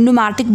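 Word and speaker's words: pneumatic: Another point is that बेटा इनकी जो बोन्स होती हैं ना वो खाली होती हैं, न्यूमैटिक बोन्स होती हैं. बोन्स आर न्यूमैटिक, ये पी साइलेंट है.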